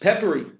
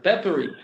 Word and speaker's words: Pepperi: talk with us actually the name of the company should be easy to pronounce it's just peppery okay yeah peppery i would that would